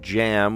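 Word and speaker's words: jamb: Uh, and we remember we were kind of assembling the word jam with a b, a silent b on it and then bun and then nip.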